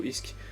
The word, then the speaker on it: ISK: It's ISK is the correct pronunciation.